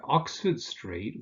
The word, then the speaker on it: Oxford Street: So if you say Oxford Street, with streets, this is usually the case, of course. Oxford Street, you stress the first word, the first element, and obviously you also get Regent Street then.